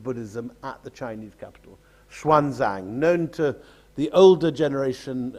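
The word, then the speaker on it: Xuanzang: up on textbooks of the old system of huan sang he used to be spent Now with an ex swanang um is how we're meant to pronounce him today and here he's seen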